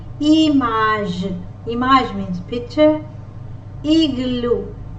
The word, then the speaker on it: igloo: Igloo. G, G, G. Igloo. I as E. E. E. G as G, because it is followed by the letter L. Igloo. G, G, G. Igloo.